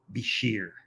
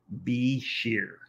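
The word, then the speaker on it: bichir: so from now on I'll call this the bishir be sheer so here are some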